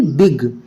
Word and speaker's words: big: अब इस जो जी है इस वर्ड में जी किसकी प्रोनाउंसिएशन दे रहा है? गा की। BIG बिग।